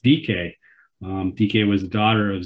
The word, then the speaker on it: Dike: What I thought was kind of cool is that this was a Greek goddess, and it's pronounced Dike.